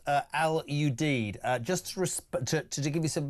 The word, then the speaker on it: Al Udeid: The airbase in Qatar is pronounced Al Udeid.